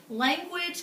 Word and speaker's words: language: Language kind of makes that kind of language makes that W sound, kind of like in penguin.